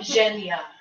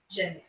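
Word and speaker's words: Zhanya: How else would you spell it? Okay, and I am Zhenya. Z-H-A-N-Y-A. Zhenya.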